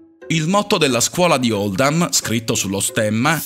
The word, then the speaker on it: Oldham: Questa scelta è stata fatta per riflettere la pronuncia di Oldham nell'accento locale, che è Oldham.